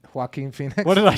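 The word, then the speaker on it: Joaquin: you can Google it it's narrated by um yakin Phoenix and few other famous vegans who's yakin Phoenix J Joker you know the movie Joker hen Phoenix how do you say his name hen Phoenix what did I say yakin the hell's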